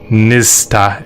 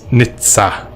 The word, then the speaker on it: Nizza: I'm saying Nista, it's Nizza, but we're just calling him